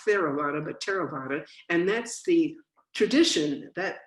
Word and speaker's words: Theravada: everybody gets it it's spelled v a d t-h-e-r-a-v-a-d-a and it's pronounced t not theravada but terobata and that's the tradition that our practice stems